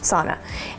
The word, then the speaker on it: sauna: to go into the so Knox home is how they say it sauna and you get all